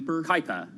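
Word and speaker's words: Kuiper: from Jeff Bezos right I can't pronounce it but it's like project queer Kyper Kyper Kyper yeah well of course because it's spelled kui well exactly so and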